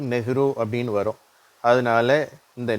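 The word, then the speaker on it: Nehru: அதனால அந்த உச்சரிப்பு நெஹ்ரு அப்படின்னு வரும்.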